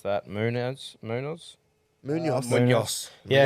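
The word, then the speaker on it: Munhoz: How do you fucking pronounce that? Munoz. Munoz. Munoz. Yeah, Munoz.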